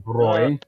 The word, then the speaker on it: Bräu: Bräu, no umlaut is brow. Brow umlaut is pronounced Bräu. Yep.